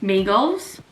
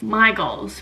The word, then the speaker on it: Mi Goals: company's name was called migos again pronouncing something wrong shocked no hotel trivago it's my goals but it's spelt mi goals i've written quite a